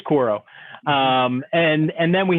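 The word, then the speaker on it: Quaero: i can't pronounce quote it's not quoro i think it's koro um and and then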